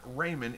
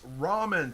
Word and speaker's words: Raymond: on your last live it's not raymond it's ramen thank you i was